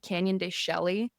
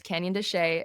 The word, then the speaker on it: Canyon de Chelly: It's often mispronounced by the way cuz it's spelled Canyon Deselli but it's Canyon Desa and which means inside the rock.